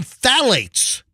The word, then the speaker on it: phthalates: white women exposed to high level of some phthalates that's the word that's spelled like phthalates you know what I'm talking